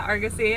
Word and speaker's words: Argosy: That's how you say it, Argosy.